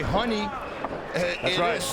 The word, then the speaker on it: Ronny: big kick like pederizo for the people at home who don't understand the portuguese language when we say honey that's how you pronounce an r in portuguese so uh when he